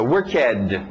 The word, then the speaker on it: worked: Ok, regular ED no final, mas a pronúncia só de um T.